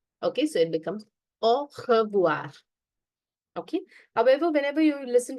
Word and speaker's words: au revoir: AU is O, O. RE is R, remember, R. Okay, VOI is voir, voir, R. Au revoir.